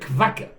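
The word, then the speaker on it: קוואקר: You see, in in There's no W in Hebrew. The only way to write a W is to put two vavs. The Israelis usually don't pronounce it as a W cuz there is no W. So they call it kvaker.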